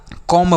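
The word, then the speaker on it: comb: जैसे हमने पीछे पढ़ा कॉम्ब पढ़ा सी ओ एम बी तो इसे हमने कॉम पढ़ा।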